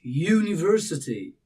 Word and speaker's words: university: The phonic sound the very beginning of the pronunciation and it's not u you U but it's university.